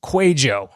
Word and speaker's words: Kwadwo: in a specific area his name is quo all right just like it spells no not exactly like it spells kind of like my name jacqu it's not how it's spelled quo is a Facebook